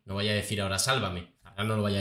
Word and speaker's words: Sálvame: a llamar igual pero con la diferencia que el acento en la tilde irá en sálvame precisamente ahora ahora espero que Belén Esteban no lo cambie porque ella siempre había dicho Estoy en sálvame Y que siga diciendo